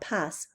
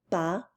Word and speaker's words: pas: Okay, and remember it's not pas. We never, ever, ever pronounce S's at the end of a word. Elle n'aime pas la pizza.